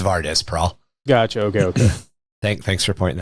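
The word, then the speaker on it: Vardus Praal: I just pronounced it Varys the first time because I'm an idiot. It's Vardis Prahl.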